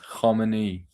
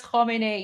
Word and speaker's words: Khamenei: The way that he says Khamenei, yeah, because of the kh sound, right?